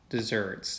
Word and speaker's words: deserts: give people their Just Desserts note the spelling here is spelled like deserts but it's pronounced desserts it does not have